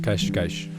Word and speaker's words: Cascais: En portugais européen, vous entendrez beaucoup de sons ch, puis le s prononcé à la fin des mots fait que ça sonne. Par exemple, pastéis de nata, ou la région appelée Cascais.